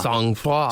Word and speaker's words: sang-froid: All right, let's see if the pronunciation is right. Sang-froid.